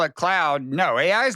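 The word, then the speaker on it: Claude: So long as you call it cloud, no, AI is not going to help you if you don't start showing the AI some ever respect. since you taught me, it rhymes with flawed.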